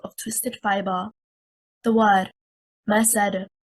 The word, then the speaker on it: مسد: The word مسد is one word, stressing on the first حركة, حركة الميم. It means fiber, and a single static dal with a qalqalah. If we stress on the second حركة, حركة السين, and we say مسد, we separated the word into two words, and الدال became مشددة, the highest rank of qalqalah.